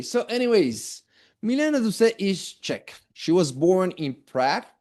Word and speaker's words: Czech: This word, by the way, esta palabra medio extraña quiere decir que es checa, que es de República Checa, y pronunciamos Czech. Okay, Czech.